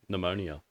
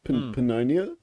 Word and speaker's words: pneumonia: no have a stroke I used to think the P had to be like pronounced ponia ponia ponia that sounds